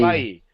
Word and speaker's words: Bailly: Bailly. French Again, is a soft Bailly L.